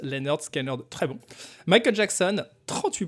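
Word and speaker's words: Lynyrd Skynyrd: Pronounced Leonard Skinner, très bon.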